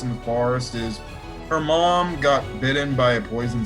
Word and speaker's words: Maam: of yours yes uh her name is mamu well that's how they said in the show but it's just said mom um so yeah it's spelled a a m essentially it's spelled out ma'am but they got the apostrophe whatever and i'm guessing they make the uh a silent so yeah uh we